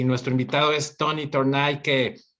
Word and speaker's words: Tornay: Tornay.